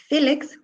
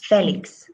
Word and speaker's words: Félix: Recuerda, Bonnie, en la pronunciación de Félix tenemos una tilde. So instead of Felix, we say Félix.